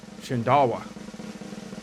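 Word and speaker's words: Shindaiwa: But it's supposed to be pronounced Shindawa.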